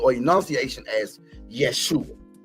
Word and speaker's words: Yeshua: call Jesus but we know him the right pronunciation or enunciation as Yeshua and when we study Yeshua right